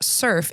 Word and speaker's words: SRF: So SRF, pronounced SURF, is a gathering place